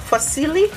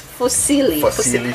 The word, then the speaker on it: fusilli: what's this one called fosilli for silly pasta yes excuse up one that's italian yeah that's how to pronounce it properly but silly okay it's fusilli okay so here we